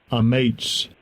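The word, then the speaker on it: אָמַץ: hebrew strong's h 553 a mates a mates that's how they pronounce it strengthen courage strong courageous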